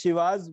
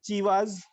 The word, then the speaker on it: Chivas: So why you pronounce here as Shivas? Why you haven't pronounced as Chivas? So the origin of the term chi was with she, not with chi, chi.